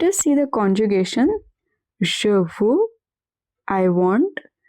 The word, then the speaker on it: veux: Je veux, I want. X at the end is silent. Tu veux, you want.